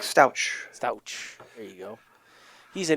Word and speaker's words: Stouch: today's show we have justin stouch did i pronounce that right justin that's correct stouch there you go he's a nailed member he's